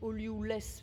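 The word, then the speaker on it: Ollioules: Alors, ça s'écrit Olioulès, mais j'imagine que ça se dit Olioul.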